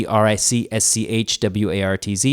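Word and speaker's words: Eeeric Schwartz: Eric Schwartz with three E's on Instagram, e e e r i c s c h w a r t z. It's pronounced Eric Schwartz.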